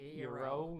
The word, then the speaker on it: Iero: It's Iero, right? Yes. Iero. That's what I thought too. Yeah. everyone on the internet is saying Euro, yeah.